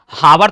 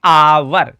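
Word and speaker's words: hour: अब इसको हावर तो हम नहीं कहेंगे। जो बच्चे हावर कहेंगे उनका रॉन्ग हो जाएगा। क्या होता है यह? आवर क्या होता है? एच ओ यू आर एच यहां पर साइलेंट है। आप कह दोगे आवर।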